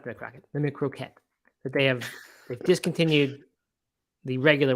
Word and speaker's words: McCroquette: The plant-based McCrocket, which we talked about the other day. The McCroquette is the name. Croquette. How you pronounce it.